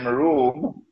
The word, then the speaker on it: روم: an alliance with room is spelled it is pronounced like R room but the Arabic word room is uh it describes Eastern Christian Christianity when